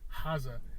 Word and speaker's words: Gaza: So I kept saying Gaza before, apparently the proper way to say haz, you know, got a like put a whole H in the G instead of like the G.